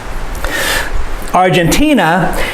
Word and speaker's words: Argentina: words that we stress argentina is a country that i'd like to live in argentina is a country that i'd like to live in so this dress is a argentina the third syllable argentina is a country